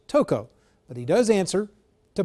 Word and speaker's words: Tocco: Also, many people call him Dominic Tocco. He says it is actually pronounced Tocco, but he does answer to both.